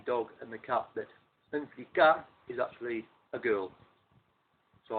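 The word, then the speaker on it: en flicka: And this is EN space FLICKA, pronounced Anflika.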